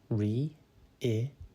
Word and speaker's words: reiterate: reiterate it is pronounced reiterate and it is spelled r e i t e r a t e think re then it then uh and then eight reiterate means to say